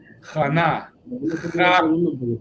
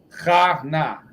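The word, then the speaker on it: Chaana: Jana. Ja y na separado. Jana.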